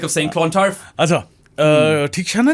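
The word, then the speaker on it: Theekshana: बात याद आई है ठीक शाना को किस तरह प्रोनाउंस करते हैं ठीक शना ठीक शना हां आल्सो स्टेल से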